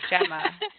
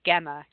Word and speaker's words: Gemma: pronounce my name wrong Gemma in America they pronounce it with a hard G gamma into the host Gemma